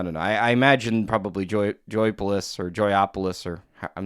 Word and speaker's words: Joypolis: Joyopolis or I thought it was is pronounced Joypolis because there's no O in the middle.